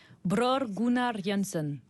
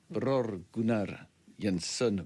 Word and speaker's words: Bror Gunnar Jansson: Anaïs, je vous laisse prononcer son nom. Bror Gunnar Jansson. Pas mal. On fera pas mieux, je crois. Bror Gunnar Jansson.